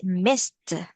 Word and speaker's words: missed: So we read it as missed. Yeah, so we read it with like T sound at the end.